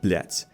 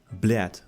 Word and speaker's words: блядь: But pay attention to the word блядь. It's not блядь, блядь, like a lot of the Americans like to say. It's блядь, blядь, blядь, blядь.